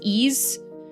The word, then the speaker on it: Ys: It's pronounced ease wise.